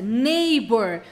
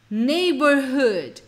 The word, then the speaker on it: neighbor: e olha que a pronúncia neighbor você não pronuncia esse gh aqui ó você procura para o bebê nem por neighbor neighbor para não sair